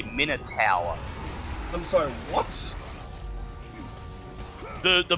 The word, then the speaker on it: Minotaur: stop it no no we've been saying it wrong this whole time according to dnd beyond it is a minor tower i'm sorry what the